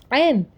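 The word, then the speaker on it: ع: Actually, we don't have any proper alternative, so we write n as AINN. Okay, ain. Arabic. Arabic ain is ain, and Urdu ain is an. Pronunciation difference we have for an.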